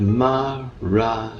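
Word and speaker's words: Maranatha: And the word I recommend you to recite is the word Ma-ra-na-tha. That's 4 equally stressed syllables.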